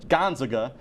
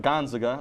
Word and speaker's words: Gonzaga: by saying number 1 Gonzaga like it's a cheese. So Garrett went for the team you didn't know how to pronounce. How are you supposed to say it? Gonzaga. It's Gonzaga.